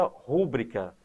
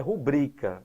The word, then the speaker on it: rubrica: Muita gente pronuncia rúbrica. Se você pronuncia a palavra incorretamente, rúbrica, a tendência é que você coloque o acento porque ela é proparoxítona. Porém, a pronúncia correta da palavra é rubrica e não é acentuada porque é paroxítona terminada